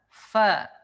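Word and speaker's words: ف: Ada sebagian orang yang mengucapkan huruf fa itu seperti orang Sunda, misalkan pak gitu kan.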